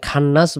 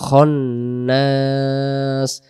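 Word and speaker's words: خناس: যাবে না এরপরে মিনশারিল বলা যাবে না এখানে খান্নাস বলা যাবে না উচ্চারণ হবে খনাস আবার ম্যাক্সিমাম মানুষ যে ভুলটি সবচেয়ে সূরা নাসের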